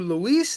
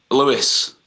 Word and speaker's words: Louis: So some people call you Luis and some people call you Lewis. What's the proper way to say your name? Lewis. Lewis. Okay, that's what I thought. All right. Yeah, I had Louis, Louise, Luis. But it's Lewis. It's Lewis, It's yes. as English as it comes.